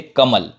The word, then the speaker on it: कमल: जैसे कमल, कमल, ल, ल पे रुक गया, इसमें अ उच्चारण नहीं सुनाई दे रहा है।